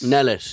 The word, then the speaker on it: Nellis: Say his name. Okay. Simon Mellis. Nellis.